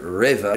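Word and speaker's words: REWE: But my favorite supermarket is Reva. That's R-E-W-E, and it sounds like Raver to me. That's how I remember it. Reva.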